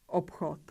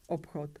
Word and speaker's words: obchod: Is b voiced or voiceless? B. B is voiced. We have to pronounce its voiceless pair b. So we pronounce voiceless p and voiceless ch, obchod, obchod.